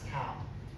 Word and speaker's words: tau: Tau equal to, it pronounced as tau.